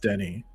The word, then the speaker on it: Denis: Please correct me in the chat because I know his first name's pronounced Denny.